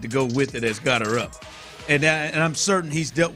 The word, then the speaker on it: Gotterup: That is exactly the pronunciation. It's Gotterup. It's Gotterup. Is it really? I just checked. Yes, it is exactly pronounced Gotterup.